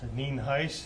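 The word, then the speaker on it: Nhuis: N-H-U-I-S, and it's pronounced Neen Heiss, and I think you know I'm the sheriff of Fernando County.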